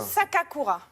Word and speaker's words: Sakakura: hommage à Paris un japonais je vous laisse prononcer son nom non non je ne le pas c'est un défi ce matin Junzo sakakura sakakura ouiou sak prend seulement sakakura je dirait